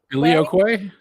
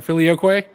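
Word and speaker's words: Filioque: Filioquay. Really? Let's do it. I'm gonna go with it, man. If you he took the time to put that in there. Filioquay.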